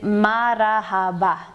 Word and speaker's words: marahaba: you the answer is marahaba the emphasis comes on the ha mara and that means i